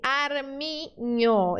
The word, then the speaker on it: armiño: Esse símbolo não está no português, né? Mas ele tem um som, ele representa um som que está no português, que é o som do NH.